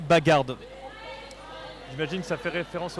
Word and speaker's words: Bag'Hard: Donc la bagarde ça a prononcé avec le D à la fin de bagarde donc on dit bagarde.